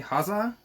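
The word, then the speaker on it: Häxa: It's H-A-X-A, Hoxa, is the A with the umlaut over top of it.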